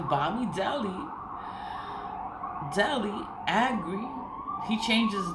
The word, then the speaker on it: Bamidele: It's Bamidele.